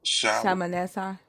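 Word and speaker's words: Shalmaneser: It says the mon uh the monument was erected by Assyrian king Shalomiser III to camorate. Am I pronouncing that right? Sha sha shamanessa.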